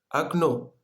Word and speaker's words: окно: Окно. Окно в начале слова это О нет ударений. Мы читаем как А. И в конце слова О ударение, мы читаем О. И вот это окно, нет окно. Вот мы читаем окно, в языке французский это фенêtre.